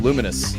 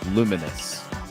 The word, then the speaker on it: Lumines: I'm pretty sure they are, but they came out saying like it's pronounced luminous.